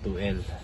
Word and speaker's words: 2L: yyung engine bay ng 2l Toyota L silent L po yan Hindi po h Tulad nung iba na 2lt Ito po is 2l